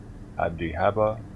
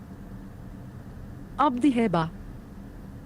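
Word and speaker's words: Abdi-Heba: garrison and ruled by appointees such as King Abdihaba, Marcus will pronounce it for me. Abdihaba.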